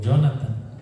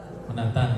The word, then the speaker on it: Jonatán: Bueno, algunos dicen Jonatán o Jonathan. Bueno, se dice, ¿cómo se dice? Jonatán.